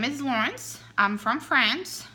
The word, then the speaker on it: Laurence: cats my name is Lance I'm from France so if you want to say it correctly that would be low horse I will not you